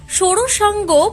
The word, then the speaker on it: ষষ্ঠাঙ্গ: এবারে প্রত্যেকের জানা জরুরি ষষ্টাঙ্গ প্রণামের সঠিক উচ্চারণ কি? সঠিক উত্তর হল সৌরসাঙ্গ প্রণাম।